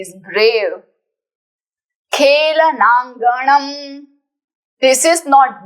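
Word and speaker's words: खेलनाङ्गणम्: सुविक्रमः having a great velar he is brave खेलनांगणम this is नॉट the there is a small dot a small तिल that is called अंग so this is अंग खेल खेलनांगणम खेलनांगणम खेलनांगणम खेलनांगणम next is वज्रकायताम strong body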